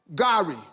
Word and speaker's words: gari: You said Gari. How you pronounce it?